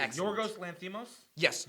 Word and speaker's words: Yorgos Lanthimos: Yorgos Lanthimos? Yes, Yorgos Lanthimos.